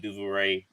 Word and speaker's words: Duvernay: doors wide open, just like Rashad Bateman and Duvernay. I might have said his name wrong.